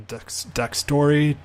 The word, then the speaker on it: DxTory: The second guy I'm going to show you, and I've started using more often, is a program called DxTory. That's how I pronounce it. It could be Dextory.